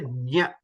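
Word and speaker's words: ज्ञ: So we have to say nya. So it is a combination of j, nya, and a.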